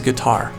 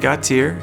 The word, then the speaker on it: Gautier: the last name got tear nobody will ever pronounce that right anyone that sees this will go go to God my favorite is guitar that is my favorite my name is gutsier and I work for first choice insurance I'm